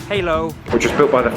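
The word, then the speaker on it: Hỏa Lò: we're in half --lo prison actually pronounced halo which was built by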